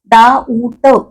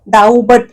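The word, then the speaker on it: doubt: letter ऊट या शब्दातलं डाऊट ब कुठे म्हणतो आपण म्हणतच नाही डाऊ बट असं काहीतरी म्हणत नाही ब उच्चारच नाहीये आणि म्हणून ब झाला सायलेंट अक्षर आणि डाऊटचा अर्थ शंका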